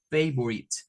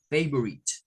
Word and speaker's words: favorite: Y luego esta parte de acá no suena la E y suena esta I como una I corta, favorite, favorite.